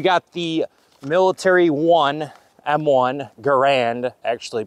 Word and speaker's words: Garand: history by we got the military one M1 Garand actually pronounced Garin but yaa we're just going to roll with it most Americans call this the M1 grand shoots 30 out6 projectile semi-automatic this is the